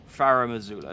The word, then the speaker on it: Farum Azula: I'm actually pronouncing this right as well. I'm calling it Farum Azula. No, it is right.